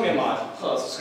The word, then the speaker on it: Ahmad: This is me, Ahmad. But my friends in America, they call me Ahmad because they can't pronounce the simple H sound.